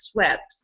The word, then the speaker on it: sweat: Don't mix it with sweet. Yeah, so it has nothing to do with sweet. Oh, yes. Because, yes, many people pronounce it this way, and it's not correct. Sweat.